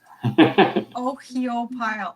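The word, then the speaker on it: Ohiopyle: Oh, pile. Ohio pile is how it's spelled.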